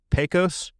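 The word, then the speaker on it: Pecos: POS cantaloupe.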